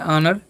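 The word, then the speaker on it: honour: ठीक है, ऑनर, इसे ये भी एक ऑनर है, सॉरी इसे ऑनर पढ़ते हैं, ऑनर।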